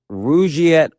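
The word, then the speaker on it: Rugiet: But if you're looking for something beyond the usual pill, meet Rouette Ready. And Rouette is spelled R U G like rug and I t.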